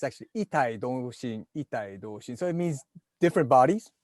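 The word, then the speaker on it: 異体同心: It's not quite the pronunciation. It's actually itai doshin.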